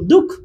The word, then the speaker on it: দুঃখ: দুঃখ উচ্চারণ করছি দুঃখ এটাতে কি বিসর্গের উচ্চারণ আছে উচ্চারণ নাই আমি কি বলি দু বিসর্গ খ এরকম তো বলি না আমি এটার উচ্চারণ করি দুঃখ দুঃখ এরকম উচ্চারণ করি ঠিক আছে তো বিসর্গের উচ্চারণ হলো না ঠিক আছে আমি এই